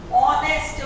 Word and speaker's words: honest: होने वाला शब्द हो, ऑनेस्ट मैन, ऑनेस्ट में ह साइलेंट हो गया और वावल हो गया, इसे एन ऑनेस्ट मैन